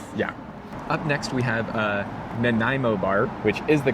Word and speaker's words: Nanaimo Bar: Up next we have Nanaimo Bar, which is the correct pronunciation because I asked.